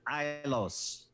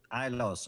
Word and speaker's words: Ilos: And let me just get the pronunciation guide up here. Ailos. Ilos.